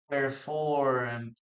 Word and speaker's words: performed: Okay, we don't pronounce the letter E. Performed, letter D.